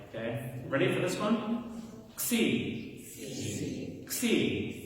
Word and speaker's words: Xi: Xi. Xi. It's like a K-S-E-E.